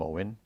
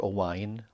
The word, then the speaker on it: Owen: We always liked the name Owen, not Owain, Owen. You know, he does get called Owain now and again by the Welsh contingent, but it's spelled O-W-E-N.